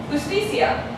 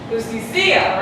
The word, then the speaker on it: justicia: Justicia. If it was here, how would you pronounce that word? Justicia, right? But it's not pronounced justicia. It's pronounced justicia.